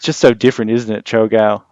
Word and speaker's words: Cho'gall: How do you pronounce it? Cho'gall. Cho'gall. Yeah. Like oh my seagull.